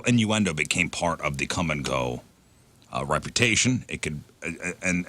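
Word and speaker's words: Kum & Go: over a bonfire mhm I know how we'll spell it with a k u m cool it's like quick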